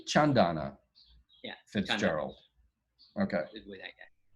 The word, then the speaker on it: Chandana: if i do it correctly so i say chandana yeah fitzgerald okay john donna um is so she is she's a medical